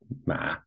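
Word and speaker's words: 马: So, this character here, ma, is pronounced ma, and it means horse.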